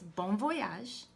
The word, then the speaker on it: bon voyage: Turkish to say have a great trip it's bon voyage so marry the Marigold is French so she